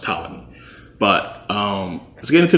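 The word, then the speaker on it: Ptolemies: the pamies or the Talam I always say pamy but it's it's actually pronounced tmy but um let's get into the tommies and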